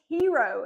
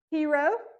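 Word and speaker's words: Hiro: next pick was Mr blue his name is hero and it's spelled h i r o so fun fact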